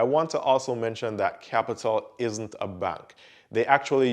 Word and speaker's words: Qapital: has a strange name it's pronounced capital just as how you would say it with a c however i had to search for the pronunciation because i thought it was uh cupital or apital at first now this